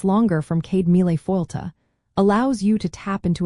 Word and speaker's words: Céad Míle Fáilte: For example, you might hear Céad Míle fáilte, pronounced Céad Míle Fáilte, which means 100,000 welcomes.